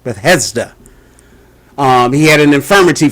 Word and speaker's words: Bethesda: by the the pool Beth Hester I believe is pronounced Bethesda um he had an